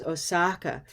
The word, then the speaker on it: Osaka: But that's a very well-known city among Americans, Osaka. And we say that with an olive sound, second syllable.